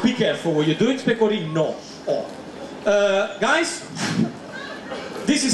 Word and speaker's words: pecorino: Just be careful when you pronounce that, because pecorino is the cheese. Pecorina, it means doggy style.